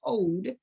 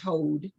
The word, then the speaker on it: Hod: be working in today which is called hold h-o-d I might be pronouncing it wrong but I believe it is hold um that is the